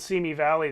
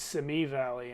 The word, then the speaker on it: Simi Valley: know this town called simi valley that everyone who doesn't live there says semi valley and it just isn't called that yeah who's ever called